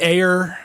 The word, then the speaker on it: Ayer: But, uh, Sabotage is, uh, It's directed by directed by David Ayer. Is that how you pronounce it?